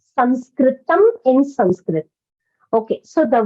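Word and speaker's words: संस्कृतम्: English but we pronounce sanskritam in Sanskrit okay so the word is sanskritable the correct word is sanskritam if you are referring to the language then the language is called sanskritam that's the correct word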